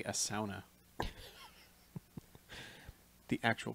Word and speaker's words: sauna: as the Finlanders say, a sauna. The actual pronunciation.